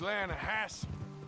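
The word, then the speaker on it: Lannahechee: You mean the Lanahatchee River? No. The Lanahatchee. It runs right near here. Yeah, but it's pronounced Lanahatchee. Why is everything in English said differently than it's written?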